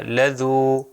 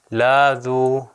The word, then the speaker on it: لذو: کیا جائے گا۔ لذو، اگر میں لام کو غلطی سے لمبا کر دوں تو یہ ہو جائے گا لاذو، تو وہ مطلب بھی